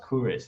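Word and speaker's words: Kuruš: Cyrus the Great, or Kurus. Really, it should be pronounced Kurus. It's a hard C.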